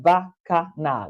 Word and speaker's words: Bacchanal: So Vico, Kevin said Vico, Bacchanal is pronounced Bacchanal.